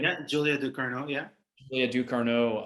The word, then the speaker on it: Ducournau: It's incredible that Ducarneau, is that how I say her name? Yeah, Julia Ducournau.